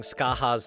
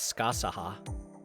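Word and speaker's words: Scáthach: Yeah, sometimes Japanese mispronounce things, but you don't see me pronouncing Skaha's name as Skasaha.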